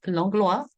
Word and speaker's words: Langlois: Actually, it's a Cajun name, so it's Langlois, pronounced the French way.